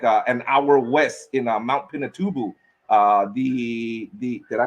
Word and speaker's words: Pinatubo: I was more fascinated with, like an hour west in Mount Pinatubo. The did I pronounce that correctly? Mount Pinatubo. Yeah. Okay, Mount Pinatubo, the active volcano where the indigenous people, the Aita tribe, live.